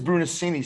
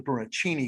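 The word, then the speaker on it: Brunacini: and he's uh now brunocinia brunocini it is brunoscini see when i first i thought it was only brunochini because that's the italian pronunciation um yeah yeah so yeah it's like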